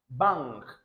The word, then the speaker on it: bang: Now you see N before K. I told you it is ng sound. That's how to pronounce it. Bang, ng, bang, bang. It is not like normal N sound.